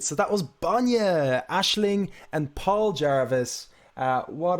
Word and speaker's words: Banyah: So Banyah, Banya, milk, but it's phonetically spelt, and milk in Gaeilge, if anybody is watching from abroad.